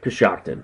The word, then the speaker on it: Coshocton: The other town, I forget now exactly how you pronounce it, Coshocton? Coshocton, yes.